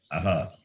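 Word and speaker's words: अः: It is Visarga with the vowel A is pronounced as Aha.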